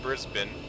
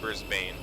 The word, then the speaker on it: Brisbane: I know it's pronounced Brisbane.